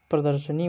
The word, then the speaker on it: प्रदर्शनी: प्रदर्शनी का जब उच्चारण करते हैं तो दा के बाद रा शब्द का उच्चारण होता है, इसीलिए सा पे रा जाता है, अगले वाले सब अक्षर पे रा चला जाता है।